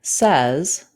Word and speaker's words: says: we can decode it but the word says s z breaks our spelling patterns we need to memorize says the word this the